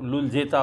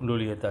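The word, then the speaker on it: Luljeta: उसी तरह वैसे तो अगर हम नाम पढ़ेंगे तो लुलजेता उसको कहेंगे, बट वहाँ प्रोनाउंसिएशन में उसको लुलियता थी।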